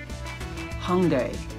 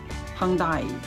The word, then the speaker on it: Hyundai: So next, oh, look at this logo, Mercury, American English pronounced Hyundai, but someone says Hyundai, the British people say it's Hyundai, Bugatti.